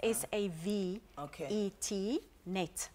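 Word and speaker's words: SaveTNet: So it's spelled a little bit differently, because we aim to save lives. It's S-A-V-E-T, net, save T-net.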